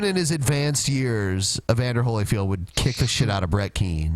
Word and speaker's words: Evander Holyfield: just does Mike Tyson bit the ear off even Holyfield here even even even Holyfield his name is